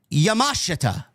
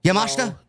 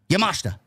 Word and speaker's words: Yamashita: Tony Storm had an eliminator match tonight against Miyu Yamashetta. Is that Is that Is that how you pronounce it, Jesse? Uh, Yamashita. No. Yamashta. Yes. Yamashta. There you go. Okay. Yep. Kind of like Tekashta.